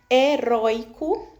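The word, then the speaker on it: heroico: Então, nessa palavra heróico, eu tenho a sílaba penúltima roi como mais forte.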